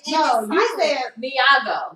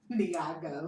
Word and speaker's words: Nyong'o: Nyong'o.